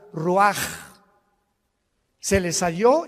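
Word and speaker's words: רוח: Roach así como suena se pronuncia la en hebreo como J ruaj se les só y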